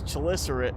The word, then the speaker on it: chelicerate: So the correct way to say it is chelicerate, but I kind of like the idea of just calling him Chili Belly.